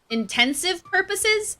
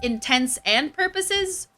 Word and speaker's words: intents and purposes: all intents intensive purposes intents and purposes how do you say that statement i've always said for all intensive purposes like iv but i don't think that's how you're supposed to say it what what even is